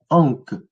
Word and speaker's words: ankh: Donc si je reviens à mon mot, donc ankh, le complément phonétique nous rappelle que ça se lit ankh. Il y a le NK qui permet de renforcer le mot. Donc c'est un complément phonétique. Ankh.